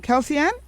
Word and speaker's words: Kelse-ann: hope i'm pronouncing your name properly is it kelseann kelseann yes you did pronunciation all right yes and yeah kelsey